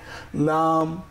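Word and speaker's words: لام: এইখানে কিন্তু আমরা ছবিটাকে মনে রাখবো যে ল্যাম্প, লাইট এর সঙ্গে মিলিয়ে লাম।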